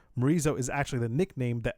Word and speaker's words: Morizo: Other than rhyming with chorizo, Morizo is actually the nickname